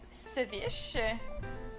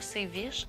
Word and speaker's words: ceviche: Il dit ceviche. C'est comme, voyons non. Ceviche. On dit pas séviche.